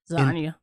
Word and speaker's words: Zania: Zania. How you say it again? Zania. Zania. It's like lasagna without the la.